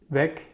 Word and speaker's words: Weg: Weg, you remember, two words. Weg with a long E means way, so weg means way.